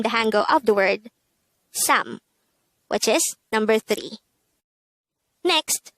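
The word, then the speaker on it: 삼: sam this is just composed of one syllable pronounce it with me sam again sam how do we spell sam in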